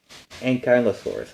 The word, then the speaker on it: Ankylosaurus: Ankylosaurus. Okay, Ankylosaurus.